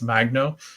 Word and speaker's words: Magno: Talis Magno. I think that's how you say it. Magno. I wanted to say Mango. I always thought that it was Mango, but it's Magno.